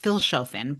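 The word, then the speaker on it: Vilshofen: So, this started off in Vilchaen and I know it's pronounced actually with like an F sound. So, like Philin, but I'm never going to pronounce it properly.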